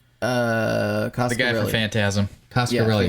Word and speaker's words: Coscarelli: Coscarelli.